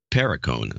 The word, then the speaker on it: Perricone: Matthew Cole Perricone, or Perricone. That's how it's pronounced.